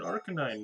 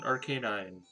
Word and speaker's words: Arcanine: now that's it's exciting an rk9 i don't know which way it's supposed to be pronounced despite playing these games since being a small child arcanine is like the way that everybody usually pronounces it but you know it's